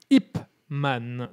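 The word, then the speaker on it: Ip Man: et son nom s'appelle Ipman. Donc pour la bonne prononciation, je vais dire IPman pour que tout le monde la note bien parce que j'ai vu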